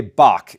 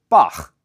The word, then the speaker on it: Bach: Now, we say Bach in English, but you'll note that his name is spelled B A C. And in German, if a ch comes after an a sound, it's pronounced. So, it's Bach.